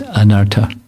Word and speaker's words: Anarta: that surrounds doraa it's anarta but it's not the spelling is a little different so not not a long a but it's in the